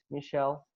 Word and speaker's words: Michel: It's Michelle, so without the L and the E at the back, but still you pronounce it the same way. It's the French Michelle. A lot of people say Michael, but it doesn't matter.